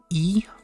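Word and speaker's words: い: Next is E, which is pronounced like E in eel, eel, eel.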